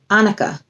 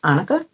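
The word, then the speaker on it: onycha: have two more left annika i believe it's pronounced annika then the lord said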